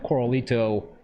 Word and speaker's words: Koralito: So I know a lot of folks know Rocky from Instagram, and he's known as the Coralito. Did I pronounce that right, Rocky?